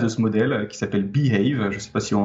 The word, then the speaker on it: BAVE: je vais devoir présenter le modèle bave parce qu'en fait tout part de là behave euh ça s'écrit be a ve ça veut dire se